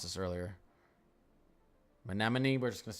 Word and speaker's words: Menominee: So you guys told me how to pronounce this earlier. Menominee, we're just going to say that.